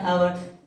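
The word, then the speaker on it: hour: लगा रहे हैं एन अवर इसलिए कि यहां पे एच जो है वो साइलेंट है आवाज आ रही है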